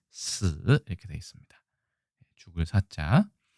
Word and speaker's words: 死: 장음으로 되어 있고 중국 발음은 스 이렇게 되어 있습니다.